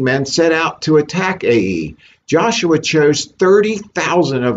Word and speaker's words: Ai: is um chapter 8 the israelites will defeat ae i know it's easy to say that i like a.i but i believe the correct pronunciation is a e so i begin with verse 1.